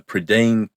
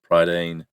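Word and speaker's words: Prydain: of a book from a series called The predan Chronicles or The Chronicles of predan pridan it's spelled p r y d a i n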